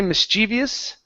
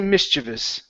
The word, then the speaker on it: mischievous: to um okay now there's a couple of ways to pronounce this word okay some people say mischievous okay other people say mischievous okay I personally Say mischievous okay so we could